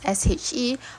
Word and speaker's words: SHE: So the final pillar of TPM, which is safety, health and environment, which is SHE or is pronounced as she.